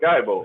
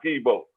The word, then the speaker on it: Skibo: It's really supposed to be pronounced Skibo. Yeah, that's the actual real name of it. But we call it Skybo.